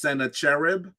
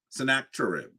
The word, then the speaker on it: Sennacherib: battle against um sometimes his name is um pronounced Senator cherib or sennacherib um and so Senate Senator chirp is the way I say his name um he actually uh